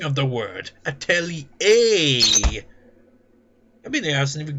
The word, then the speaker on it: atelier: It doesn't even freaking sound any way to the way it's spelt. That's what I hate about words. So few words tend to be freaking spelt the way they're pronounced. The Atelier is I mean, Atelier. It makes it sound like it's got an A at the end. But it's only got an A at the beginning of the word.